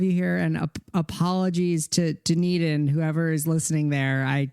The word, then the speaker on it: Dunedin: zealand i should have asked you how to pronounce that how do you say that it's dunedin dunedin there you go dunedin new zealand after